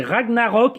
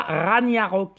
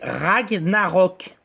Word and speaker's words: Ragnarök: Et faut bien prononcer, hein, c'est Ragnarok et pas Ragnarok. Ragnarok, ça ne veut rien dire. Donc j'en ai marre d'entendre les gens dire Ragnarok. C'est Ragnarok.